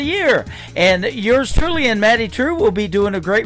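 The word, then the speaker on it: Maddye Trew: That is a brand new single from Maddie True. It is Maddye on her first name, and True is spelled Trew. Maddie True.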